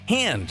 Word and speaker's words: Han: words differently for instance Lando says han like hand instead of han like hans gruber anyway there was a